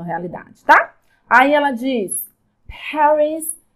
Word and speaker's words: Paris: Paris, não Paris.